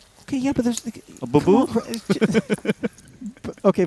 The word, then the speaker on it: Boo-Boo: A boo-boo? Okay, first off, it's boo-boo. Okay, all right? Not baboo.